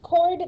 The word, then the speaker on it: chord: the diameter a chord it's um pronounced chord the h is silent it's a segment whose